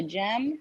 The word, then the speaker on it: Gem: Yeah, GEM. GEM. Like a gemstone.